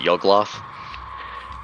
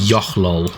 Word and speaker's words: Yochlol: Taking a look over it, then I'll be looking over the blade from the was it Yugloth? And Yochlol is the pronunciation. Yochlol.